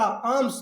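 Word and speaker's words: alms: लिया किसका to give आम्स to give देने का आम्स भिक्षा एक चीज और याद रखना प्यारे छात्रों इसको आर्म्स मत पढ़ देना क्या पढ़ेंगे आम्स क्यों क्योंकि एल विल बी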